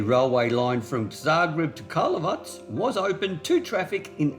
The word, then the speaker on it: Karlovac: And I can confirm I have been pronouncing this town and station incorrectly, and the best way to pronounce it from what I've researched is Karlovac. So Karlovac it is.